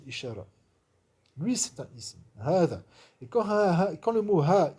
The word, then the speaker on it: هذا: il s'attache à dha, vous voyez le alif il ne s'écrit pas, par contre il se prononce toujours. C'est pour ça que dans le mushaf, vous verrez un petit alif un petit alif qui est juste marqué comme ça au-dessus, pour bien faire comprendre qu'il faut le prononcer, il faut dire hada, il ne faut pas dire hada, bien qu'il ne soit pas écrit.